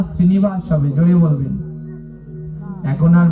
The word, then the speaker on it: শ্রীনিবাস: আর মহাপ্রভু যে রূপে দ্বিতীয়বার অবতীর্ণ হলেন তিনি হলেন শ্রীনিবাস আচার্য। শ্রীবাস আর শ্রীনিবাস দুজন কিন্তু আলাদা। হ্যাঁ, ওই যে জয় শ্রীকৃষ্ণ চৈতন্য, ওখানে কি হবে? শ্রীবাস হবে না শ্রীনিবাস হবে?